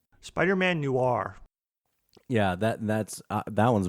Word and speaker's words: Spider-Man Noir: Spider-Man Noir.